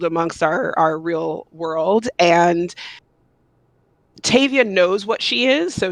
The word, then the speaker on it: Tavia: But I named her after Octavia Butler. So her name is Tavia.